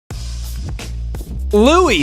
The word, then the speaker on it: Louis: Said as Louis, silent S because it is French.